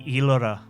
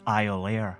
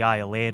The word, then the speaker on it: Iolaire: The Iolaire, Gaelic for eagle and so frequently mispronounced as Iolaire that it becomes its name, is loaded up quickly